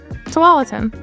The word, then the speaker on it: Tualatin: Tualatin. Some of the Oregon pronunciation will take a little getting used to.